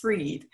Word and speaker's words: Fried: already have a title spell fried pronounced freed and it's going to